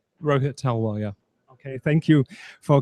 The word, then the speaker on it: Rohit Talwar: Here we are from Inside AR live from the fair, and with me is Rohit Talwar. Did I pronounce it right? Rohit Talwar, yeah.